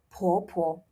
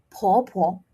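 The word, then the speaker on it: 婆婆: Now, this is P, right? So, make sure to blow. Po po. Put your hand in front of your mouth and feel the air, okay? You make sure that you're blowing. Po po.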